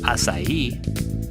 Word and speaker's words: acai: a budget what are acai berries acai pronounced acai is native to one of the largest biodiverse